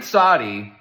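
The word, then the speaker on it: צדי: world you're not breaking any ha it's clearly sadi but it's like okay what's the worst thing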